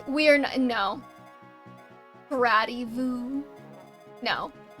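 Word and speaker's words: Gradivus: It's pronounced Gradivu because it rhymes with Camus.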